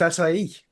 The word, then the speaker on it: acai: Akai. Oh, Is that the nice. chocolate one? Akai. It's actually pronounced acai.